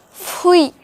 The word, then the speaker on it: fruit: hard i know but the spelling is the same as fruit only that is pronounced like fui and once you're in